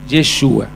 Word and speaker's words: Yeshua: Aconteció que estaba, voy a usar el nombre correcto, como se pronunciaba, Yeshua, para los nuevos, es Jesús, ¿está bien?